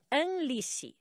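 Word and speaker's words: Amlici: a ver com rei a pronúncia é aniss o que é bem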